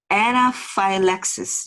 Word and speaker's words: anaphylaxis: 이게 어떻게 발음되냐면 알레르기 반응, anaphylaxis 이렇게 돼요.